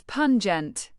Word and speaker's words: pungent: Pronounce it as pungent, like punch without the ch, then gent.